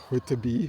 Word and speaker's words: Whitby: Almost, I pronounce it Whitby, right? Whitby, which means white settlement.